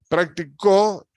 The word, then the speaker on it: practicó: ven Ah fíjense bien practicó Es la última sílaba última en práctica la penúltima y